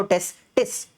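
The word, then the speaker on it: testis: एक रहेगा तो टेस्टिस दोनों रहेंगे तो टेस्टीज़ बोलने में भी फर्क है। ठीक है? प्रोनाउंसिएशन में भी फर्क आता है।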